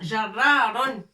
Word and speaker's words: جرار: Voilà, mais الاسم الحقيقي بالعربية هو جرار. Un tracteur, c'est جرار. C'est plutôt c'est جرار. جيم avec فتحة. الراء مشددة avec شدة.